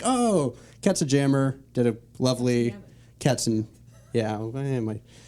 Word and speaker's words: Katzenjammer: It is Land of Confusion by Genesis, as covered by Katzenjammer, which I think from the Netherlands. I can't remember where we're from. The name is pronounced Katzenjammer.